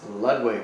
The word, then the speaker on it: Lodewijk: Number 1, Eddie Van Halen's middle name is Ludwig. I think is how you Ludwig.